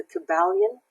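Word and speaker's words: Kybalion: to read a great book it's called the Cabal Yin not to be confused with the Kabbalah it's spelled KYB a L I its om and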